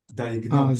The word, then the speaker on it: diagnose: We have to keep the S as S. So S is diagnose. Z. Exactly. With the verb, you have Diagnose. yeah, exactly. With the verb, you have to pronounce it as Z. With noun, With noun, it's diagnose. diagnose. Okay. So this is the difference. The same word, but it has two pronunciations.